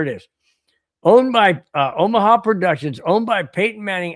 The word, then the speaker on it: Omaha: No, you got to say it right. Omaha.